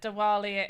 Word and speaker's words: Diwali: Deeper wallally but Diwali.